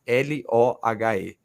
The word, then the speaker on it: Löhr: Escreve Wilhelm, aí, né, o outro nome é Lohe, Wilhelm Löhr, que pronuncia, né?